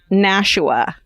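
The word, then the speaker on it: Nashua: Uh New Hampshire town is pronounced Nasha, not Nasha County or Na Nasha.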